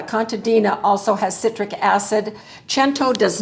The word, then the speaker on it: Cento: three different people because I was saying Cento and they said no no it's pronounced chento and so I appreciate